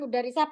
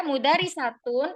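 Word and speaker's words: مدرسة: dia adalah perempuan nah ketika tak marbut ini kita baca sukun maka dia dibaca H jadi bukan mudisah begini ya bukan mudarisah pakai h ini bukan Mud Tidak ya tapi mudaris Tun tulisannya kalau bacanya mudarisah bukan bukan e mudarisah pakai ini ya mudarisatun itu ketika kita sukun waqf sukun kita matikan nih tak marbutahnya maka dibaca mudarisah nah tapi tulisannya tidak pakai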